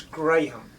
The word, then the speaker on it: Graham: it sound australian and it's not graham it's graham graham we pronounce it properly over there good evening